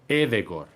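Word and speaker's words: Ødegaard: Pues no es Martin Odegaard, es Martín Edegor. Pero si yo, cuando ficha por la Real Sociedad, le empiezo a llamar Edegor, o sea, la gente...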